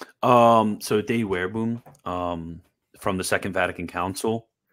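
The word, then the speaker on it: Dei Verbum: But yeah, in De Verbum, especially in chapter 6, which is the proper pronunciation, De Verbum.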